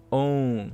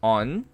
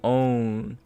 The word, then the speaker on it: own: A pronúncia dele é own. Cuidado, não é on. On é O-N, né? Esse aqui é own.